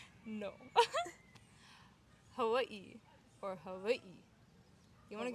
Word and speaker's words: Hawaii: Hawaii. No, Hawaii or Hawaii. You want to get like Hawaii or many people because W in Hawaii can be pronounced like a V.